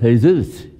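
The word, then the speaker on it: Jesús: We had a sound man here whose name is in English, is spelled Jesus, in Spanish is pronounced Jesus.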